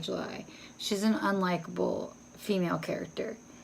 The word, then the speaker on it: July: It's spelled like the month. Maybe it's pronounced Julie. I'm pronouncing it like July.